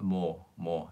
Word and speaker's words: 뭐: Susanna, is it okay to pronounce 뭐 with a little bit of a O sound? 뭐. Yes, you can say that.